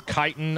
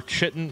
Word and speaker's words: chitin: in the early game is chitin or chitten if you're weird but it's definitely pronounced chitin fight me in the